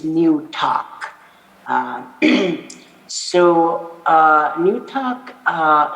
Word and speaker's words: Newtok: of new york and and the english term or in its pronunciation is new talk so uh new talk